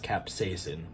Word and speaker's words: capsaicin: go I don't know it's actually pronounced capsaicin which is a irritant